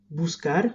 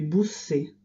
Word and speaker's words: buscar: Si la lettre ne change pas, si l'orthographe ne change pas, la prononciation des verbes va changer. Buscar ne se prononcera plus buscar, mais busser, par exemple. Il faut donc que je change le C en QU pour garder le même son.